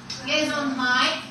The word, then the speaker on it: Gesundheit: Funny looking word, which is pronounced Gesundheit.